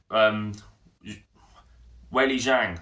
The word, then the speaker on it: Weili Zhang: We've got Valentina Shevchenko defending her flyweight belt against the, once again, up-and-comer to the division, Weili Zhang.